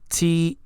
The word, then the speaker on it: tear: Okay, this next word, Tear. This has two pronunciations and two different meanings. So number one is tear. Tear, like a teardrop, is something that it's water that comes from your eyes when you're crying, right?